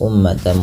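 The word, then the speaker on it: أمة: dilepaskan kemudian umatan muslimah lafal umma di sini mimnya berharakat tasdid dan berwarna hijau artinya ia bacaan gunah dan perlu ditahan dalam pelafalannya ya Um tidak langsung dilepas ummatan muslimatan dan ini kita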